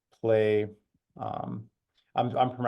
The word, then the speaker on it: Plai: type in something like play um I'm I'm I'm spelling it out play because this is how we would want to be pronounced so play is uh